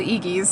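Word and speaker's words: Eegee's: That's how you pronounce it, Iggy's.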